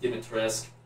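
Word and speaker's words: Dimitrescu: name alcina dimatorescu i i know it's apparently pronounced given to risk i'm going to keep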